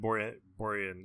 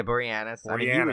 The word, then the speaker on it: Boreanaz: deadly horror on say his name again David Boren Orion yeah Boreanaz she's just a time for angel I know